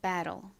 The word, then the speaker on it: battle: 미국식으로는 low이라고 발음되어서 battle이라고 발음합니다. battle.